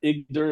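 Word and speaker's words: Iğdır: It's called Idr or Igdir, if you want to pronounce it the English way, which is right beside Mount Ararat on the north side of the mountain.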